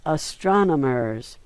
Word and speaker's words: astronomers: It's astronomers. And he learned to say it wrong. He put the M and the N in different places.